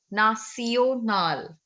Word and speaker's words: nationale: It's not national. The sound is not sh. National. It's nacio. Nacional. No, ma'am, in English, Tion is like sh. So, ma'am, Yes. I just pronounced that. So you don't have to do it now. French is different.